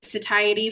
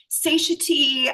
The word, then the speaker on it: satiety: I call it the satiety formula. That's how you pronounce that word, by the way. Like often people will just write back and say, "Oh my god, huge relief because I was saying satiy.